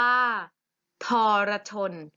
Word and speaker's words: ทรชน: อะไร ทรชน อีก รอบ ทรชน อ่าน ว่า ทรชน ทรชน มี สระ อะ ไหม เธอ เห็น สระ อะมั้ย ไม่ เห็น แต่ เวลา ออก เสียง มี เสียง อะไร เสมอ เลย มี เสียง อ่ะ แต่ เสียง อ่ะ แค่ 1 เสียง เสียง อ่า แค่ นิด เดียว เบา ๆ โอเค ไหม อาพาน มี